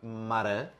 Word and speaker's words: Marin: E é o Compact Lab da Tropic Maran, ok? Ou da Tropic Marine. Nunca vou saber como é que se pronuncia o IN. Acho que é Marine, também não interessa muito o quê.